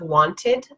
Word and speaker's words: wanted: Wanted, instead of wanted, wanted.